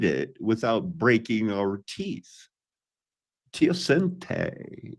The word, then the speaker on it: teosinte: Teosinte is how that's pronounced.